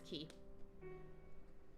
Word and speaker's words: Quay: from The Quay key I always want to pronounce that qu but it's key for whatever reason it has been a